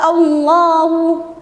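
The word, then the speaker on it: الله: Lafaz Allahnya dibaca tebal, kedengaran bunyi loh. Karena kenapa? Karena adanya lafaz Allah yang didahului huruf yang berbaris atas yaitu tanda fathah. Maka cara membacanya harus dibaca tebal kedengaran bunyi lo Allah dan dipanjangkan selama dua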